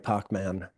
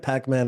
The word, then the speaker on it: Pac-Man: Did I just say “Pock-Man?” Goes to show — CB: That’s the — NDB: How I — CB: — that’s the like, Montreal pronunciation. NDB: Right? No, no. No, we called it Pac-Man. I just sort of misspoke.